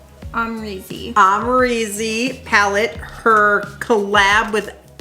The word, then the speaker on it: Amrezy: Amrezy.